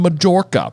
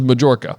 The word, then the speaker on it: Majorca: Jim Dale says it as Majorca. Does he really? I think so. Okay. That's then maybe it has double pronunciation, but I think it's in Spain and it's a soft J. Yeah. Okay. Well, Majorca then, and I just